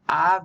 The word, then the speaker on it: Av: Av means father, haha. AB is the spelling, but you pronounce the B softly.